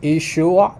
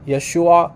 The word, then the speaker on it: Yeshua: Identical spelling in Aramaic the only difference is is it pronounced ishua or Yeshua like that there's a minor difference in how they pronounce between the western eastern dialects however returning to our